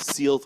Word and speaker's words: Sealth: everyone I know says Self. Can you give us a definitive pronunciation of the name? So everybody at work pronounces it Sealth. Sealth with a hard E at the beginning.